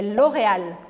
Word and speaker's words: L'Oréal: O primeiro deles é L'Oréal. L'Oréal. Em francês, você vai pronunciar esse L do final bem marcado. L'Oréal. L'Oréal. Então, nada de engolir o L no final.